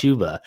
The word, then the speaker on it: Chuba: They're saying it's pronounced Chuba.